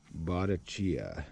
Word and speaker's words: Bottecchia: champion del mondo 1966 botticia i think that's how it's pronounced b o t t e c c h i a chia it's italian and uh i got